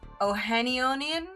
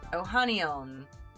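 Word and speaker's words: Ohanian: Ohanionian? How do you say that? Ohanion? Ohanion.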